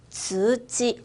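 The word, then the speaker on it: 通知: 계속 통지라고 해볼게요. 통지서. 통지예요. 즈지. 한 번 더. 즈지.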